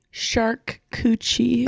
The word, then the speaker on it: charcuterie: Shark coochie is the way that it's pronounced in Italia.